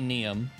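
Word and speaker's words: Niamh: is neum and n-i-a-m-h that could be pronounced something entirely differently depending on language of origin but I'm gonna say neum okay she's got a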